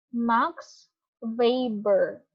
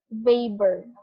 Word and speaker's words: Weber: So, ang nag-develop ng Bureaucracy ay si Max Weber. Okay? Parang siyang Justin Bieber. Pero ito, Max Weber. Pero ang spelling niya Weber. Pero hindi Weber. Sana tama yung pronunciation ko.